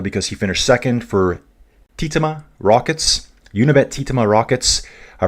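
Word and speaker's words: Tietema: He said Titema.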